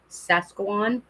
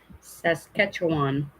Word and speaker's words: Saskatchewan: i know i'm going to say it wrong sasquaan yeah see saskatchewan it's a pretty idiot dave though so that